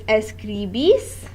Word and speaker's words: escribís: So it's escribís with an accent on the I, the second I.